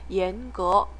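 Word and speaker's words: 严格: 읽어서 친절하다는 뜻이고요 번은 이성 이성 있니다 예거 예거 하면 엄격하다 이렇게 됩니다 그래서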